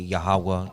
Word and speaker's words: Yahweh: So the only way to pronounce his name is the correct pronunciation of his name, which would be Yahweh.